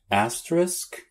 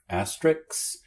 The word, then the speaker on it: asterisk: Asterisk? Asterisk? No, asterisk.